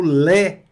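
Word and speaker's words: lait: Da mesma forma, o lé. O T fica mudo aqui, o T não pronuncia. A mais I com som de E fica lé, que é leite.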